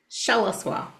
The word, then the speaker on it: Shalaswa: Shalaswa. So I tell people think of a seashell. The accent is on the first syllable.